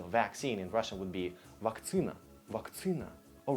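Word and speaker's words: вакцина: So vaccine in Russian would be vaktsina, vaktsina. All right, that's unexpectedly happened. Yes, vaccine, so there's double C here, and that's when it changes. So it changes to vaktsina, vaktsina.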